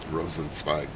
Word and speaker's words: Rosenzweig: Rosenzweig.